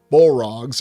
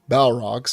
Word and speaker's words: Balrogs: And then, of course, if you refer to the demonic or horrific Bolrogs or Balrogs, there's different ways to pronounce that as well, the demons of the ancient world, they were actually Maiars just like Gandalf was.